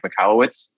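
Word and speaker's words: Michalowicz: Today we have on a very special guest, Mike Michalowciz, and I pronounced that right, correct?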